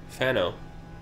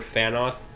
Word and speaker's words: Fano: I thought I heard TH in there. Oh, you thought you heard Fanoth? Yeah. Oh, no. That's not what it said. Come on, voice actor. He said it right. We heard it wrong.